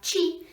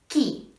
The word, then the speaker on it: tjie: And even though it looks like chi, we pronounce it ki.